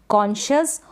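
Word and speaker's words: conscious: यहाँ पर बताई है, कॉन्शियस और कॉन्शंस। क्या है, कॉन्शियस और कॉन्शंस। तो इन दोनों स्पेलिंग्स में एससी को जो है श पढ़ा जा रहा है, तो आप इनकी प्रैक्टिस ऐसे ही कर लें।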